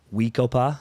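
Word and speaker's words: We-Ko-Pa: I might be messing up the first name pronunciation, but Weekopa, Yeah, that's good.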